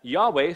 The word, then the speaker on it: Yahweh: of god yahweh okay sometimes people say jehovah but that's a bad pronunciation yahweh is the correct pronunciation